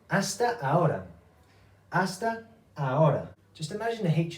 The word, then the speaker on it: hasta: ask that from them the H we do not pronounce in Spanish hasta pronto see you soon